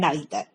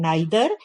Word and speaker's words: neither: somebody saying either and neither. So these both are correct. In American English, they pronounce it as either and neither, and in British English, it is pronounced as either and neither.